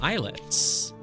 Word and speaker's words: islet: I would recommend playing Islets. I-S-L-E-T-S. I mean... I guess most people might know how to spell the word islet, but just in case, does have a silent S in it, you know?